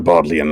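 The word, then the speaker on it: Bodleian: the uh bodilian Library as I believe I believe the pronunciation Library that is the bodlian library which aside from being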